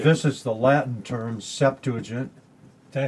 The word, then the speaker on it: Septuagint: This is the Latin term, Septuagint. Did I say it right? Septuagint? My old New Testament professor said you were supposed to pronounce it Septuagint. Oh. But nobody does.